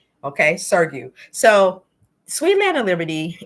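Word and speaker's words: Sugrue: Now, I said this man's name wrong so many times, but this is the correct pronunciation. Okay, Sergio.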